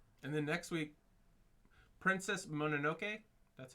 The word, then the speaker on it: Mononoke: And then next week, Princess Mononoke. That's how it's pronounced.